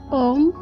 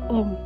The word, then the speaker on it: homme: En début du mot, il s'appelle H muet. On va faire l'apostrophe, la liaison et des formes spéciales pour l'adjectif masculin. Exemple, les mots homme, hôtel.